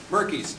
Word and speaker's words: Merkis: And then Lauren and Lou Merkis. Am I pronouncing your name right? Merkis. Okay.